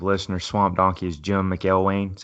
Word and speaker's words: McElwain: Also, by the way, if you're not a active listener, Swamp Donkey is Jim McElwain. That's how you pronounce his name.